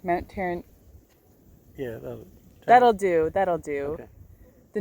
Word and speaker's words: Tauranga: Did I pronounce it correct? Mount Tauranga.